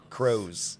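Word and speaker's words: Kroze: we do it so k-r-o-z-e crows it's like pros but crows yeah that's also not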